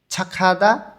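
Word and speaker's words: 착하다: ছাখাদা ভালো মানুষ মানে ভালো মনের মানুষ, সেটাকে বলে হচ্ছে ছাখাদা। গিয়কের পরে যখন হিউত থাকে তখন গটা হিউতের স্থানে গিয়ে ক্ষয়ের মতন উচ্চারণ হয়।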